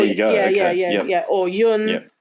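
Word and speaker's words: Jon: go yeah yeah or Yun I believe is how it's pronounced in Swedish two joh in the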